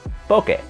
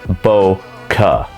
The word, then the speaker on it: bokeh: And speaking of aesthetic effect, we can't talk about Aperture without talking about bokeh. Quick sidebar, it is not pronounced bokeh. It's bokeh.